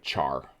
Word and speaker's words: char: like at face value it looks like char and there's a lot of programmers who will read this as char and there are a lot of programmers who say well yes but it's the beginning of character and they'll pronounce this care i think i mentally